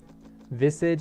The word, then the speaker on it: Visage: a hero in dota spelled v-i-s-a-g-e is it egg egg or dolphin um but now i pronounce visage in game i call him visage because not because i'm an kind of because i'm an you pronounce it properly where are we